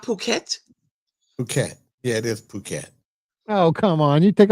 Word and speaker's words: Phuket: Yeah, it is Phuket. Oh, come on. You take all the fun out of it. Right. Sorry. Phuket.